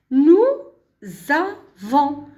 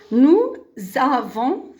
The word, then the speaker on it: nous avons: Parce que S entre deux voyelles, U et A. Quand il y a S entre deux voyelles, ça veut dire quoi les voyelles? Les voyelles sont A, O, I, U, d'accord? E, semi-voyelle Y aussi. Donc, nous avons, quand il y a S entre deux voyelles, ça se prononce Z.